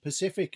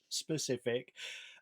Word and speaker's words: specific: really do I have a tendency to say Skellington instead of skeleton Pacific instead of specific and and reticule and